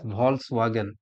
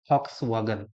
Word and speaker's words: Volkswagen: Volkswagen is written in English. You can read as Volkswagen, but exactly that is a Germany company, and that pronunciation in German language, that is Volkswagen. That is Volkswagen, not Volkswagen.